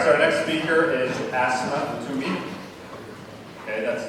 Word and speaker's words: Asmae: There are a lot of other variations out there, but I confirm that that is the correct pronunciation of her name. So it's Asmae.